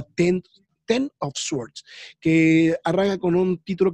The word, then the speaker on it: X of Swords: Que es bueno, seguramente alguno que lo lea mal dirá que es X of Swords o X of Swords, pero ya la pronunciación está confirmada que se llama Ten of Swords, que arranca con un